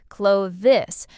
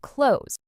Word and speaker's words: clothes: This one's tricky because of the th and s together. A lot of learners say every sound clearly. Clothe this. But native speakers often blend it into something closer to clothes.